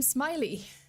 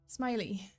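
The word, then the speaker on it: Smyllie: uh father's last name smiley Smiley like the well like uh Ashley Smiley right like it's spelled you know it's pronounced as smiley but it's spelled as m y l l i e uh so Heath and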